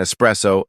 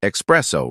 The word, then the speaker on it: espresso: And espresso, not espresso. Right.